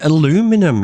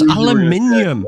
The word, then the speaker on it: aluminium: words correctly you say you say aluminum it's aluminium always you always go it's